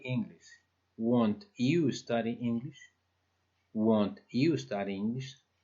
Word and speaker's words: won't: Y la forma contraída del will not es won't. Sí tiene un cambio, pues, que se debe observar, porque no es willent, por ejemplo. ¿De acuerdo? No se pronuncia willent, es won't. La forma contraída es won't.